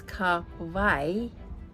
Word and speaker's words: Kauai: And Kauai is Kauai, one of the Hawaiian Islands.